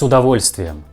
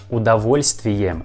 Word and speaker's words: удовольствием: And the word удовольствием has a first letter O, but we pronounce this word like A. С удовольствием, not удовольствием. We pronounce like с удовольствием, с удовольствием.